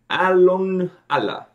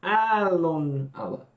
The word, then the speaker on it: Aallon Alla: pressed that A on Aallon Alla. See how I pressed that A a little bit longer? Because there's two of them, and they tend to press on the second syllable of the words.